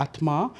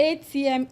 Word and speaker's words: Atma: Actually, ATMA, it stands for Atma, which means in classical Malay language, it is soul. Soul. Yeah, Okay. the meaning is soul actually. The ATMA.